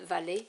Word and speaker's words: valet: page are the violet that's the french word valley is pronounced so there's your page